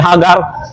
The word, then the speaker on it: Hagar: Nakita niya ang isang pagkakataon sa pamamagitan ng kanyang aliping Egyptians na ang pangalan ay si Hagar o si sa tagalog ang pronunciation ay Hagar.